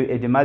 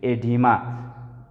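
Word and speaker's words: edema: ایډیما دلته دی راخیستی دی، وایي دا داسې تلفظ کوي ای ډي ما.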